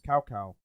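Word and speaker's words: Cao Cao: they like started saying is like this is salsa i'm like no it's cow cow you're saying it wrong developers this is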